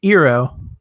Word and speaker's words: Eero: or $249 for 3 of them, or the Eero.